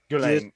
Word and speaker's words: Ghislaine: I believe what his name is pronounced. Ghislaine Maxwell.